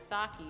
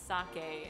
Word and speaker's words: sake: I think what it is my mom didn't know which way to pronounce it. Because I was being weeby, and my mom was like, sake, and I was like, it's sake, and my mom was like, rice wine, whatever.